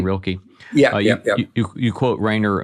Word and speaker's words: Rilke: Is that how you pronounce last name, Rilke?